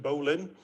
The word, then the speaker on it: bowline: bowline or a bowline we actually pronounce it bolin although it's written bowline and what a bowline